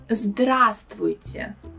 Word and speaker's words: Здравствуйте: Also, the beginning of the word zdr often makes people confused, because all three letters here are consonants and all of them are pronounced. Maybe it's not so easy to pronounce these three letters one by one, but try not to put any other sounds between them. There are no any extra sounds between them, so it shouldn't be zdara or zadara. Instead of this, say zdra. Здравствуйте.